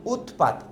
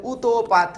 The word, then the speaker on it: উৎপাত: যেমন উৎপাত তুমি চাইলে উতপাত বলতে পারবা না। উৎপাত। কারণ এটা তো বদ্ধরূপ। এটাকে তো আটকে উচ্চারণ করতে হবে।